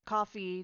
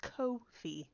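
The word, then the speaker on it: Ko-fi: actually found that out it's not pronounced coffee despite they have a coffee cup symbol it's actually pronounced Kofi which I think is funny but buy me a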